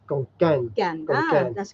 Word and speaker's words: ขอนแก่น: ฝรั่ง always say ขอนแก่น because It's they a K. pronounce like a Kevin. K. Yeah. But ขอนแก่น gan, you pronounce like a G go. Konkan.